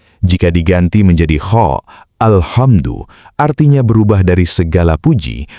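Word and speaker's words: الْحَمْدُ: Kata alhamdu menggunakan huruf H halus dari tengah tenggorokan. Jika diganti menjadi kha, alhamdu artinya berubah dari segala puji menjadi kematian atau kehancuran.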